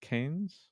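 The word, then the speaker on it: Cairns: um what'd you say canes yeah it was the the c-a-i-r-n-s one that's canes and then Aussie like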